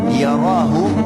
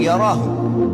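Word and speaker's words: يره: Siapa yang buat seperti biji sawi dari kebaikan, yarahu, dia pasti akan diperlihatkan atau melihatnya. Wa may ya'mal mithqala dzarratin syarran yara. Kalau diberhentikan bacanya yarah, tapi kalau dibaca langsung yarahu.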